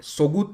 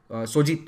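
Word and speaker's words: Söğüt: और सोगुत नाम का एक बहुत इंपॉर्टेंट शहर है, सोजित, सॉरी इसे सोजित प्रोनाउंस किया जाता है, तो सोजित शहर को जीत कर इसे अपना कैपिटल बनाया।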